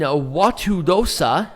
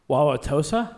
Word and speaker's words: Wauwatosa: the lerner building in a watudosa i butchered that immensely w-a-u-w-a-t-o-s-a wauwatosa wauwatosa thank you wisconsin and night